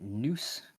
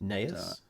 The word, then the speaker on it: Neuss: This was announced by Jared, is it Noose? I don't know how to say his last name. Neuss. Neus? Neus, there you go.